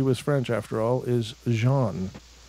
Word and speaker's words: Jean: French after all is Jean that's pronounced the same way as Jean of jean-luc Picard fame for the Star Trek